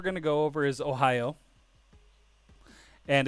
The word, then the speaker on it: ohayo: to go over is ohio and it's literally pronounced the same way as the state ohio so if you just say ohio you'll say it right